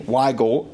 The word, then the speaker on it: Wigal: It's pronounced the same, Wigal, as a lot of friends of mine that lived in West Virginia that spelled it with a Y, W-Y-G-A-L.